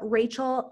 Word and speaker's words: Rachael: And it's Rachael, right? I pronounced your name right?